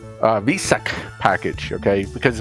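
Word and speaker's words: Weissach: bit about showdown leagues why sec why i was told it's v sick uh v sec package okay because it pronounces like a v even though it's w-e-i it's like a v someone on my channel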